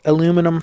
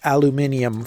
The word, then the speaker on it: aluminium: But this is nothing but aluminum foil, or aluminium foil, however you want to pronounce it.